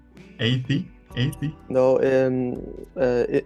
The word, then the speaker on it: Eyði: pronunciations of your name 80 80 no um in in Fairways uh the the D with the line true it's uh usually not it doesn't usually have a sound at all so it's a